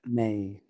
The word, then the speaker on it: Mei: Johnny Mei. How do you say that? May. Johnny May.